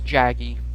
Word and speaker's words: Jaggi: tigress well I'm sorry not Jagger as Jaggi there we go that's the pronunciation and now we got